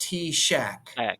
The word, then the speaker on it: TSAHC: weird it's TS a c yes but it's pronounced t- Shack I know it sounds completely crazy but but